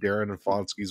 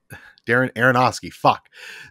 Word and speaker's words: Darren Aronofsky: mark here this isn't darren and fonski's wild ride i didn't say it right darren aronofsky this